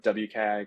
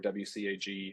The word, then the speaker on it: WCAG: information are has anybody heard of wcag or wcag I've heard it pronounced either way right I'm seeing some